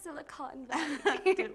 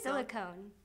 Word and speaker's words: Silicon Valley: Yeah, the Silicon Valley. How do you say the Silicone? That's not right.